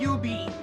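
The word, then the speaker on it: jubeat: And UB, which is it's spelled J-U-B-I, J-U-B, but it's pronounced UB, which is pretty much like you press squares.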